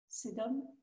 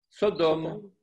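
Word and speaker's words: סדום: Sédom. Sodome.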